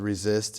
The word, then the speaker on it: RZST: It was called Resist. It's spelled RZST.